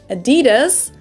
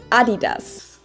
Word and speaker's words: adidas: were referring to because they usually pronounce it adidas and in germany we say adidas it's the second largest